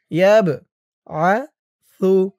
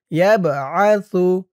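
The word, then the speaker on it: يَبْعَثُ: ওয়াল মাউতা ইয়াবআসু, ইয়া দিয়ে বা ধরবে, এই বাটা কলকলার হরফ, ধাক্কা দিয়ে পড়তে হবে। ইয়াবআসু, তার উচ্চারণটা নরম হবে। ইয়াবআসু, হু মুল, হুমুল, ইয়াবআসুহুমুল, এই মিম দিয়ে ইহার পরের পৃষ্ঠায় একটি লামকে ধরবে।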